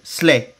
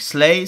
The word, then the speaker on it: sleigh: Ensuite, vous avez le traîneau du Père Noël que vous dites sleigh. Donc sleigh, c'est le traîneau du Père Noël. Le G et le H ne se prononcent pas.